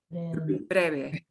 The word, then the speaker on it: breve: Your lips kind of come to, when you see a V, pronounce it like a B. Breve.